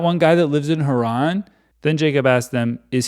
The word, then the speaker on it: Haran: where are you from We're from Haron they replied I've been pronouncing it Heron I think he said